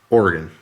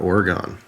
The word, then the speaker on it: Oregon: Please don't mispronounce Oregon because it makes me want to break my screen. Just kidding. All right. It is Oregon, not Oregon.